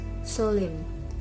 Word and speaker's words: solemn: For the example is for deletion is solemn. The word Solomon, but the sounds is solemn.